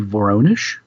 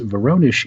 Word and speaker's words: Voronezh: And I'm pronouncing that possibly wrong. It's Russian, but it appears to be Voronezh.